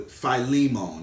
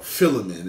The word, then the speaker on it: Philemon: me when you get to Philemon that's how you say it in Greek or filling in that's how you commonly hear it in church when you get there